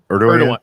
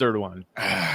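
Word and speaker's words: Erdoğan: Erdogan. It's Erdogan. Erdogan. It's Erdogan. Thank you. Spelled Erdogan, but it's Erdogan because fascist.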